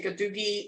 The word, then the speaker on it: Gadugi: So that second set of characters you see there, you say Gadugi in English, and then you see each syllable represented in the Salagi syllabary.